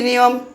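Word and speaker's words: knee: এক্ষেত্রে কে অনুচ্ারিত থাকবে অর্থাৎ কে এর উচ্চারণ হবে না অনুচ্চারিত থাকবে উদাহরণ স্বরূপ দেখুন উদাহরণ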